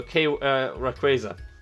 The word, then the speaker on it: Rayquaza: No, Rayquaza. That's the way I pronounce it.